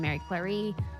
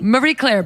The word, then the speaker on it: Marie Claire: L she spent in Mary Clary Claire oh man I love when you say it like that Marie Clary Mary know you're French then Chloe Marie Claire baby Mayer Claire she's been